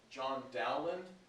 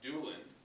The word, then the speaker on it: Dowland: Probably the leading composers, the top composers of lute songs, John Dowland, which is actually pronounced Dewland, I've been told, and Thomas Campion.